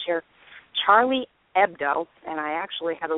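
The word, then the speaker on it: Charlie Hebdo: uh a satirical magazine in Paris called Cher Charlie ebdo and I actually had to listen to that twice to make sure I pronounced it properly because when something happens like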